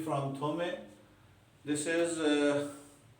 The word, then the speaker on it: Thomae: ये देखिए क्या फंक्शन है, this function is TX, T from थोमे, this is अब इसकी प्रोनाउंसिएशन देख लीजिएगा, हम तो इसको थोमे पढ़ते हैं, हो सकता है थोमायस, थॉमस, लाइक दिस इज थोमे।